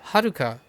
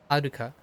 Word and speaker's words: Haruka: So Haruka, it's not like you know American English speakers can't pronounce ha, right? Haruka. The idea is the breakup is different, so you always have the R's.